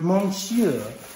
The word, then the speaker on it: monsieur: this online this is called monsieur carousel it's pronounced monsieur and i would know because i'm french i